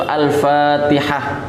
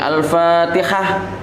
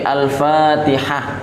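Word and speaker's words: الفاتحة: Jadi Al-Fatihah ini harus hati-hati. Jadi yang benar itu Al-Fatihah. Sebagian orang Al-Fatihah, ada yang Al-Fatihah jadi kho. Jadi ada yang haknya ya dipanjangkan Al-Fatihah. Jadi enggak, tapi Al-Fatihah itu yang benar.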